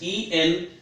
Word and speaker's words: enough: Friends सेटा एनफ नुहे, सेटा तले कौन तार प्रॉपर प्रोनाउंसिएशन कौन? Enough. First time, enough. That's enough. It's not that's enough. That's enough. So say it after me, friends. Enough. It's not enough.